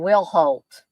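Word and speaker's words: Wilhoite: her pepper an and TJ's correct to me once again will Holt is how you pronounce her last name I'll try to remember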